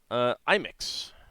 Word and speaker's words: Imix: have updated the Archimental Imix, which I pronounce it Imix, but Imix is the official pronunciation.